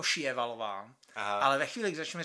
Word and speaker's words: Sjöwall: kde se představuje a budeme to vyslovovat ma siala eper Valo protože eh takhle svalová Valo Ok dobře tak Ačkoliv se to tak vyslat nemá mm Hm a ona to vyslovuje jako šalov ale ve chvíli kdy